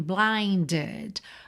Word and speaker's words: blinded: Atenção, que a gente tá muito acostumado a ver essa terminação é d com o e mudo, mas não é o caso aqui, tá? Porque esse é vem depois de um D, ele tá entre dois D, então a gente precisa dele para fazer essa ligação.